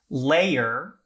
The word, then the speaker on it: layer: For example, layer versus lair, mower versus more, where layer has 2 syllables and lair has 1 syllable.